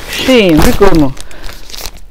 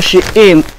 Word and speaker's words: Shein: See the sheen. Is it sheen or shein? Some people use it. They used to pronounce shein, but me, I used to say sheen. You could correct me in the comment section.